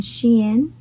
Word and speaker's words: Shein: it's going to be from sheen yes that's how you pronounce it and blush mark so